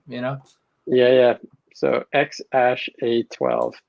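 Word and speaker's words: X Æ A-12: e yeah yeah that he pronounces ash so it's x ash a12 like ash ketchum you know yeah yeah so x ash a12 8 to the 12.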